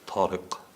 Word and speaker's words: Tarik: to write it so tarik that would be my name in Arabic Tariq the first letter of my name doesn't exist in English it's not a normal team it's tall so pronounce of different so you can write